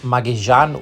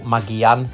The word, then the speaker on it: Magallanes: you do travel over the Strait of Magallanes or Magallanes, depending on your Spanish pronunciation.